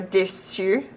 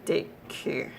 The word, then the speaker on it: déçu: gibberish, and French for déçu, it's French for disappointed, and without the cedilla it would be mispronounced as décu, also not a word.